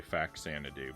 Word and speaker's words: Faxanadu: I think most people say Faxanadu, but I believe the title comes from a combination of the words Famicom and Xanadu, which would then suggest Fuzzanadu as the correct pronunciation. But I don't think the X makes a Z sound in the middle of words.